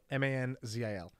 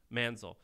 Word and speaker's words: Manzil: the name of this company man's oh man spell it ma n zi l Manzel okay kind of like what manzil did a